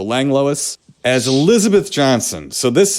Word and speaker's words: Langlois: how you pronounce it it's lang and l-o-i-s so lange lois as elizabeth johnson so